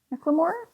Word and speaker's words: McLemore: and Anna Marie McLemore McLemore like Thrift Shop Macklemore it's not spelled like that um and this is